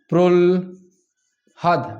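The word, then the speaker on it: প্রহ্লাদ: আগে উচ্চারণ করব প্রল হাদ। আগে ল উচ্চারিত হবে।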